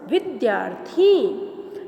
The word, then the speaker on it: विद्यार्थी: So half r before th we have to pronounce विद्यार्थी.